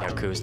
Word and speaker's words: Aku: I think I'm pronouncing Aku's name right. Like, I'm pretty sure it's Aku, not anything else, if I remember correctly.